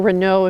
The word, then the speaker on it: Reynaud: a message, it's just my last name, Reynaud or Reynaud if you'd like to use the French pronunciation, at fsu.edu for Florida State University.